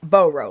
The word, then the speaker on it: Boro: So if we look at something like burrow, I only repeat it the way I've heard it, okay? I've heard it burrow. I went with Boro, like B-O-R-O.